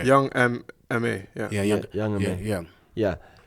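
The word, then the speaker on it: Young M.A: young he's talking about young ma young ma ma young how you butchered the name man okay young M ma yeah yeah young yeah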